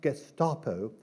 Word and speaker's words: Gestapo: gestapo and Churchill pronounced Gestapo with a soft G and the accent on the last syllable gapo which perhaps added